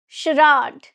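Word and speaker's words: charade: Sherad.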